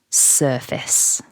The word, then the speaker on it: surface: Although we can see the word face there in the word, when it's part of the word surface, the vowel changes. So don't overpronounce the A in syllable 2.